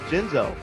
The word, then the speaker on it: Genzo: So, right beside me, I have Esquog and Genzo. Gotta put that soft G on it.